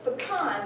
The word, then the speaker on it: pecan: and it would fit pecan because the emphasis is on the second syllable it would actually be